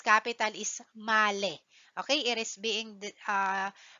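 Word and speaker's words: Malé: capital of Maldives Okay so its capital is malale Okay it is being pronounced as male Okay so to proceed its tagline is always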